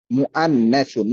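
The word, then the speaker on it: مُؤَنَّثٌ: মহিলার আরবি হচ্ছে মুআন্নাসুন। মহিলার আরবি কি? মুআন্নাসুন, মুআন্নাসুন। মিম ওয়াওয়ের উপরে হামজা, হামজার উচ্চারণ হবে মূলত মুআন্নাসুন, মুআন্নাসুন।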